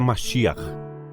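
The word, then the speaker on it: מָשִׁיחַ: Não sei dizer se a minha pronúncia está correta, mas seria masia em hebraico. Seja masia em hebraico ou mesia em japonês, Messias em português.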